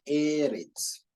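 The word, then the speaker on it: ארץ: Se escribe así. Eso es Eretz.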